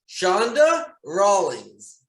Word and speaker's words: Chanda Rawlings: me right now let me see if i pronounce that shonda rawlings yes we got it right awesome and she